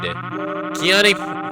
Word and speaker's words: Kiani: Kiani pronounced like the pepper.